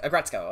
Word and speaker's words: Aggretsuko: what about a gretzko oh that's how you pronounce it aggretsuko okay i don't know